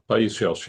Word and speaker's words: Paisios: Paisios, if I'm pronouncing that correctly, Yeah, Paisios, yeah.